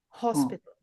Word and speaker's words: hospital: Hospital, the pronunciation is on the O, Oh, hospital. And with hospitality sector, it's on the A.